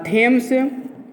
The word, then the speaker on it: Thomas: इनका पूरा नाम है थेम्स बबिंगटन।